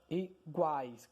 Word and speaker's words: iguais: Então, iguais, guá. O A é pronunciado mais forte.